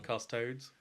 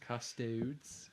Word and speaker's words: Custodes: I run custod. You're just like no sounds wrong. Custodes.